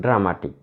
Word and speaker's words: dramatic: Look at the word dramatic. This word ends in IC. So we should stress on the second syllable. Dra, one is one syllable. Ma, the second syllable. Tik, third syllable.